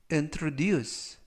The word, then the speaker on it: introduce: 나는 바닷가에서 낚시를 즐겼다라는 뜻이 되겠습니다 이번 표현은 introduce 라고 발음하시면 되겠고요 이때 강세는 끝부분에 있는 알파벳 유